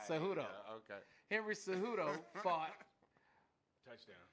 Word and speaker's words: Cejudo: Cejudo. Say it again for him. Cejudo. Cejudo.